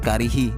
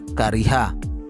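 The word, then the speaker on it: كره: Gus Miftah membacanya dengan karihi dengan kasroh. Padahal kata netizen santri itu kalimat madi yang hukumnya adalah mabni fathah, mestinya adalah kariha.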